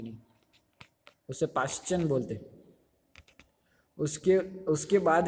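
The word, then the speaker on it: Paschen: मैं अच्छे से लिख पाऊंगा कि नहीं, उसे पाश्चियन बोलते।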